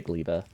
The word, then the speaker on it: Gleba: towards GBA GBA GBA how do people pronounce it I would say gleba but GBA sounds fun I